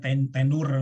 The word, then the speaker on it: tenure: berlakunya disebut dengan Tiger tulisannya tenure bacanya tenure belum satenya di luar